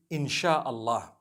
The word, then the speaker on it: inshallah: a they pronounce it they pronounce the s y the way we pronounce sh so they can write it how they want for as long as when people read it they read it inshallah because a transliteration means